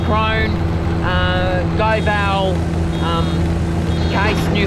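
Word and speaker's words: Krone: silage round ber well Kun I think it's pronounced crone uh goal um case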